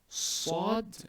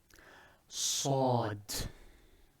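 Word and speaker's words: ص: You'll have to form a box with your lips and your cheek. You have to narrow the hollow cavity in your mouth, and with your when you are pronouncing with your tongue, try to rub the tongue along the molars of your teeth.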